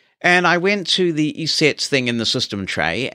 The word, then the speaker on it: ESET: TGs is covered anyway I'm told it is ESET and I got this and put it on